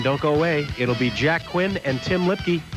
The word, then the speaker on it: Quinn: The winner, of course, moves into the championship, Jack Quinn. Rhymes with Flynn, though.